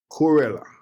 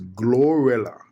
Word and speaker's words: GloRilla: GloRilla. Let me let me just let me make sure I'm pronouncing her name right. It's GloRilla.